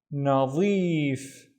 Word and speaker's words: نظيف: The first syllable is na, the second syllable is zeef, nadif.